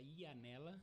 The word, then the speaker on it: Ianella: São italianos, o Laurenti e o Janella é um erro de cartório, era Ianella. Ianella. E aí na hora da pronúncia de Ianella, eles escreveram com J.